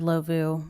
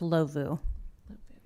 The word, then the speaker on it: Ndlovu: I believe it's pronounced Lovu.